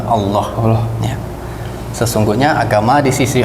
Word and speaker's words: Allah: Kita kita luruskan sedikit pronunciation-nya ya. Jadi memang di dalam bahasa Arab dan dalam Islam kita menyebut Tuhan kita, Rabb kita dengan sebutan Allah. Ya. Sesungguhnya agama di sisi Allah hanyalah Islam.